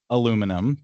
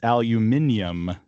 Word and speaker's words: aluminum: that in American English and how do you pronounce that in British English? Yes. Uh, that is aluminum to us Americans. And for some reason that I still don't understand, it's aluminium to the Brits.